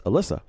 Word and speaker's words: Alyssa: She told me to pronounce it like Melissa, so it's Alyssa.